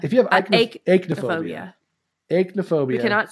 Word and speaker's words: aichmophobia: I kept saying Ike all week, and I started thinking about it, and I'm like, oh, that must not be how you pronounce it. Because that would be E. It'd be like E-I-C-H.